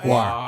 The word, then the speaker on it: Gwar: Is it gore or Guar. guar? Guar. It's technically Guar. speaking, it's a weird mispronunciation of gore, like bloody stabbing Okay.